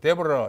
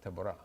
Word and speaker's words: 드보라: 드보라는 여자 사사해요 뭐 미국에서는 데보라 이렇게 발음하죠 예 히브리 말로 보라입니다 드보라 그다음에 기드온 아비멜렉 돌라 야일